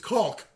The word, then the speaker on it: caulk: I know how much Brad has a pet peeve when like people mispronouncing cock. It's caulk.